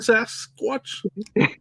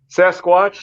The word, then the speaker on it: Sasquatch: of you next to sas watch i never heard that pronunciation i i can't let stuff go but it's definitely sasquatch sasquatch whatever nasquatch sasquatch t-shirts